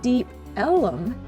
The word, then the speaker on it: Deep Ellum: section of Dallas called Deep Ellum. This area was originally called Deep Elm, as the area's main road was Elm Street, but early residents pronounced it Deep Ellum, and the name stuck.